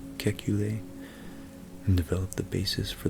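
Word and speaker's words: Kekulé: the German chemist Auguste kick lay I pronounce that French okay kick you they and develop the basis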